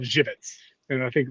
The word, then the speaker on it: Żywiec: The funny thing is, it's of Polish origin, and it's like in Poland there's a beer that's spelled Zywiec, which is called Żywiec, and I think like Żywian or Żywen is how you pronounce it in Polish.